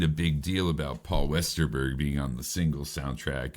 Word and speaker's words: Westerberg: Um, I did not know who Paul Westerbrook was. Westerberg. I just said his name wrong.